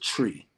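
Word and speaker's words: Twi: uh it's it's pronounced it's spelled t-w-i but it's pronounced tree so that's the the language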